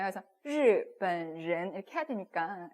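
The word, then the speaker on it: 日本人: 그럼 일본인은 日本人. 예. 저는 일본인 발음이 좀 어려워하시는 분들이 많더라고요. 왜냐면 꽉다가 폈다가 이런 거 해야 되잖아요. 그래서 日本人 이렇게 해야 되니까.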